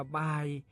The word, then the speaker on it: บ่าย: ขอ เสนอ คำ ว่า บ่าย ครับ บ่าย เขียน บ่อ ใหม่ ๆ แม่ เอก สระอา ย่อ ยักษ รวม กัน แล้ว อ่าน ว่า บ่าย บ่าย มี อยู่ 2